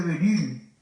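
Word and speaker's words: Bérulle: Ese oratorio lo había fundado un cardenal que tal vez han oído mencionar, se dice el cardenal de Beryl, se escribe Berulle.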